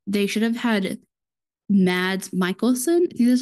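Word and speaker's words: Mads Mikkelsen: think it was like they should have had mads Michaelson see that's how you say his name um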